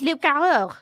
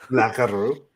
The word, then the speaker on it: loup-garou: If you fell away, that's French is loup-garou. Loup-garou. Loup-garou. Yeah, I think she pronounced that fine.